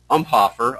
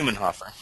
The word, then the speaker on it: Ummenhofer: Jenny McNeil and Joy Umhofer. I guess that's Ummenhofer is how you say it. Yeah, Ummenhofer.